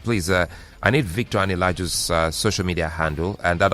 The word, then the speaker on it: Anilaju: My handle is at Victor Ani-Laju. Just the way it's pronounced.